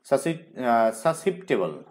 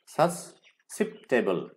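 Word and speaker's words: susceptible: অন বেঁচে থাকা কোনো কিছু খেয়ে বেঁচে থাকা সাসিপ্টেবল সাসেপ সাসিপ্টেবল সাসেপ্টেবল কিন্তু উচ্চারণ হবে সাসেপ্টেবল সাসেপ্টেবল টু অর অফ অনুভূতি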